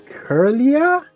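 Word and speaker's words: Kirlia: its name properly kerlia it's k-i-r-l-i-a so if it's in japanese i don't know it i mean this japanese name is definitely not curlier it's maybe it is like ki kiri li ah that's probably the japanese pronunciation if it's written exactly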